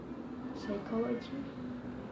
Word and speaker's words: psychology: Okay, now the letter P. So the letter P can be silent in a word like visit, psychology, psycho. It can be silent or